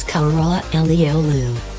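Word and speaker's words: Karaalioğlu: the park means black only son and the pronunciation is Conroy le Oulu number 5 Connie ulti Beach the specious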